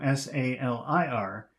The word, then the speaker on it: salir: But number 2, S-A-L-I-R, that should be pronounced salir.